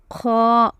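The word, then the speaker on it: خ: Kha, Kha, Kha. There should be a little bit of coughing sound, and this letter is a heavy letter.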